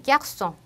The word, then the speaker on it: garçon: 하지만 아까 봤던 것처럼 끄가 나오는 규칙임에도 불구하고 꼬리를 달아서 쓰지를 써주게 되면 스 발음으로 변형돼서 garçon이 아니라 garçon, ça, reçu 이렇게 발음이 납니다.